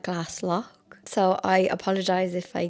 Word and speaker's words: Glaslough: So, I call it Glass Low, but I think people call it Glass Lock.